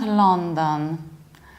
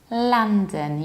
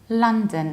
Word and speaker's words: London: mispronounced like London and it's not along them but it's London you don't have law you have a la like lala land but a bit more reduced la London and not dawn like